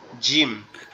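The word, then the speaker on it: جيم: এই যে কাচির মতো দেখা যাচ্ছে, এটার নাম হচ্ছে জিম। এই জিম হরফটা হচ্ছে আমাদের জিহ্বার আগা উপরের তালু, অর্থাৎ আমাদের গালের ভিতরে যে উপরের অংশটা আছে ওখানে লাগবে। লেগে একটু শক্ত, মানে একটু মজবুত আওয়াজ।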